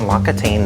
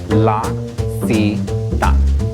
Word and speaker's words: L'Occitane: Thank you for calling Lockatane. How may I assist your call? Team meeting. How do you pronounce our name? I think it's Lockatane. L'Occitane. It's actually L'Occitane.